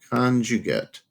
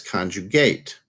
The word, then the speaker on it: conjugate: You've seen this perhaps in world language, conjugate. You've probably heard it as conjugate. And conjugate is the verb, and conjugate would be the noun version, pronunciation.